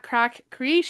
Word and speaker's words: craic: Jess is cracks, crack spelled like this podcast, C R A I C.